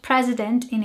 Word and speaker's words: presidente: to mind the word president in English in Portuguese it's spelled very s similarly just with an e at the end but it sounds quite different in Portuguese it sounds like presidenti and in English it